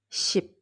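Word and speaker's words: 십: arrivé le chiffre 10 c'est chip chip chip pour moi ça sonne comme en chef c lui le chef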